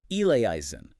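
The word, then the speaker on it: eleison: Standard pronunciation of ilison. Elisen, four syllables, right?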